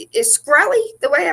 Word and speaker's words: Shkreli: Martin Shkreli, he is so disrespectful.